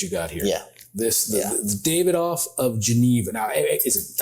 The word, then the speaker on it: Davidoff: The Davidoff of Geneva.